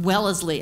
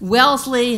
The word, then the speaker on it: Wellesley: can't have people from well as Lee and finally I just got up this person couldn't pronounce it correctly my Dean and I said I said hey that's Wellesley that's my alma mater